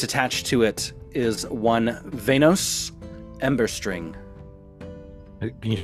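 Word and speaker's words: Veynos: Uh, but the name that's attached to it is one Venos Ember String. Can you spell that? V E Y N O S Ember String. Just as it sounds.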